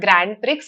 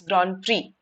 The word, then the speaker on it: grand prix: here as well right it is not grand pricks it's grand prix Right?